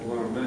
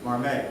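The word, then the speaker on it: Marmet: You mentioned Paul Marmot. Paul Marmot, yes. He's Canadian, and Yeah. he pronounced, because he's gone now, his Marmay, Now, okay.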